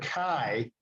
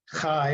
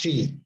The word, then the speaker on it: chi: and this is designated by a Greek letter Kai. Kai or Kai if you prefer. It's not chi. It's not chi. Please don't pronounce it chi.